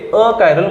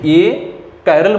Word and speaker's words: achiral: और हम आगे देखेंगे अकायरल मॉलिक्यूल, स्पेलिंग एक साथ ही है, ए कायरल मॉलिक्यूल नहीं, अकायरल मॉलिक्यूल।